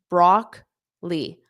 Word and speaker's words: broccoli: have broccoli broccoli so notice that second o is not pronounced broccoli brockly broccoli broccoli asparagus notice